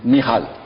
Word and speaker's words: Michal: Michal. Voilà, c'est la prononciation hébraïque.